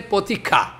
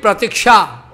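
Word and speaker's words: প্রতীক্ষা: They can say potika. Here they are making mistake in their pronunciation. They should speak pratiksha.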